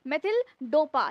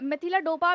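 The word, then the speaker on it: methyldopa: इसका नाम क्या है मेथिल डोपा या फिर मेथिल डोपा भी आप बोल सकते हो उच्चारण के हिसाब से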